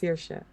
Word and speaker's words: Saoirse: No, I just know that name is pronounced Saoirse.